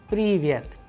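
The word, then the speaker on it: привет: The English approximation which we have used here to understand it properly is pool, and the Russian sample word which we have used so that we understand it properly is Privyet, Privyet, which means hello.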